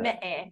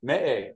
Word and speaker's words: Meʻe: And help me, how do you pronounce the acronym there? Me'e. Me'e, okay, thank you, Rosie.